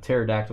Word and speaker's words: pterodactyl: you you hear a pterodactyl go to the bathroom why cuz the p is silent I've heard that before